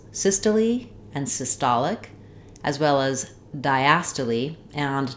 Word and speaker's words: systolic: syy syy unusual pronunciation then when we change to systolic our stress changes to the T syllable and vowel sounds change we still have sis in the beginning but now it's going